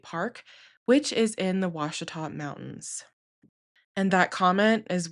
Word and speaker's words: Ouachita: It's spelled Ouachita, and it's not Ouachita, it is Ouachita.